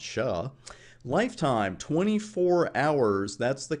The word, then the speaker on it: SHA: we're going to use something called sha which i like to pronounce sha lifetime 24 hours that's the config we're going to put on router 1.